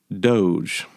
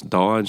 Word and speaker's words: DOGE: Number 4, speaking of the federal government, Doge. So I think some people want to pronounce this Dodge. I'm not really sure why. That was a truck.